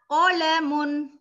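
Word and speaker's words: قلم: Hadza qalamun, ini adalah pen. Qalam berbeda dengan kalam ya, bukan pakai kaf tetapi pakai ko.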